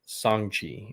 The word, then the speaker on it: Shang-Chi: Gotta make sure you pronounce it right. Shang-Chi and the Legend of the Ten Rings.